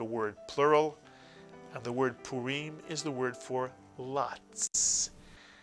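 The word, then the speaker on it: Purim: here's another Jewish holiday two vows to syllables good for you puim puim and puim comes from the word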